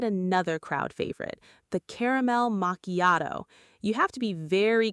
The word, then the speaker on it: macchiato: The CH in macchiato does not sound like the CH in chair. Instead, it sounds like a hard K sound.